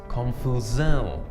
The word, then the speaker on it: confusão: For example, the word mission turns into missão, and the word confusion becomes confusão. Now notice that this SAO is quite nasal sounding. It's sao. It's not sao, but sao.